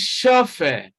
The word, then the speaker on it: chauffeur: Now, option A is chauffeur. Now, even though the letters here are CH, yet they have the same sound with the sound represented by the letters SH.